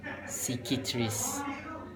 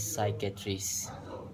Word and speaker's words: psychiatrist: Okay, before this I pronounce it psychiatrist, but the original pronunciation is psychiatrist.